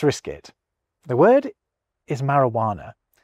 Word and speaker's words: marijuana: Now, obviously in its native Spanish, that J would be making a charismatic H sound, but in English, it isn't really doing anything. Take it away and you get Mari Wana. It certainly isn't making its usual J sound or its occasional Y sound. So, I reckon that does count.